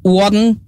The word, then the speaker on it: one: One, one, one kan kalau di Inggris won dia bacanya won di Inggris.